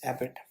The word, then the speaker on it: abbot: abbot abbot okay it's not abort it's abbot okay looked on as ordinary